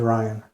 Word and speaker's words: Ryan: course the or also known as Ryan r y an not Brian b r i a an as some people mispronounce it the but anyways moving on I